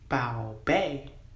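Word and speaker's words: 宝贝: Bao bei is the pronunciation for my darling, my sweetheart, my treasured jewel, or treasured.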